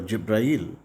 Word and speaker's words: Jibrail: And through angel Gabriel or Jibrail, in Arabic this name is pronounced differently. Gabriel is called Jibrail, and the verses were revealed to Prophet Muhammad from time to time through Jibrail or angel Gabriel.